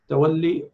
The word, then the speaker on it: Tawalli: Salah, Sawm, Hajj, Zakah, Khumus, Jihad, Amr bil Ma'ruf, Nahi anil Munkar, Tawalli or Tawalla. You can pronounce in both ways.